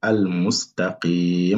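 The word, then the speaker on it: الْمُسْتَقِيم: Là, c'est al-mustaqim. Il faut prolonger ici au minimum 2 temps. Et là, mettre le soukoun ici. Hein?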